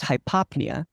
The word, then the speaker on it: hypopnea: enough is hypo so if I put hypo in front of pnea it's pronounced hypopnea but it means those